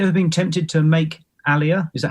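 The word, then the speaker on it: aliyah: diversity have you ever been tempted to make Alia is that how you pronounce it sorry Alia yeah I I was planning to yeah to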